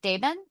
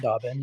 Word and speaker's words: DaBen: are Oren and I'm probably gonna say it wrong. Daben? Dobbin. But Daben. pronounced Dobbin, yeah.